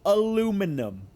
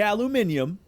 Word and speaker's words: aluminum: It is spelled specifically aluminum. If it had an I in it, I'd say aluminium.